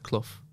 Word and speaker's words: Clough: lot of the time it's cloth like but that's my accent i think i don't know if australians can pronounce it like that cloth so am i saying it's cloth cloth it's like cloth cloth yeah that's right yeah clough this is the